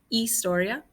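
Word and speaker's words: historia: history is la istoria remember you don't pronounce the h it's istoria english is el ingles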